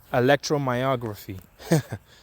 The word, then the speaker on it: electromyography: not gonna repeat this word again let's see electromyography that's how you say it electro it uses